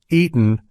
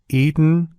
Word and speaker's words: eaten: the words button gotten eaten and important have you noticed how my throat momentarily constrains the tea sound in the middle of these words listen closely again button eaten gotten important it's interesting